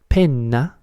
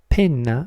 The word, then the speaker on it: penna: Pena means pain, but if you double the N sound, penna, penna means pen, and so on.